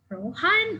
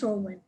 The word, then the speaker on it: Rohan: For example, this AFL player, first name Gary, last name, I thought it's pronounced Rohan or Rohan, but apparently it's Rowan.